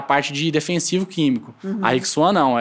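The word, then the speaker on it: Rijk Zwaan: A Rixuan é uma empresa holandesa de semente de hortaliças, diferente das outras empresas.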